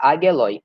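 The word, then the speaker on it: ἄγγελοι: Eu acho que é assim que pronuncia, ageloi.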